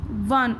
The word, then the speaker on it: one: Okay, and make this clear that a is before one, it is O. O is a vowel, but it sounds V, W.